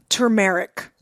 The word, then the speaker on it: turmeric: are kind of like turmeric it's an enjoyment tumeric tumeric Caribbean right it's pronounced both ways yeah but I had